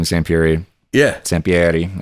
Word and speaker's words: Sampieri: Sampieri, as it would be pronounced in Italy.